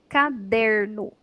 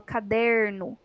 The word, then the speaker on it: caderno: tônica ou à tona caderno a palavrinha não tem nenhum acento mas ela tem a sílaba dizer que é mais forte quando eu falo caderno bom então aqui tá